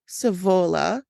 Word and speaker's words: Zwolle: When the Canadians entered the Netherlands from the north in April 1945, they came across the German-occupied city of Savola. I even have in brackets how to pronounce it.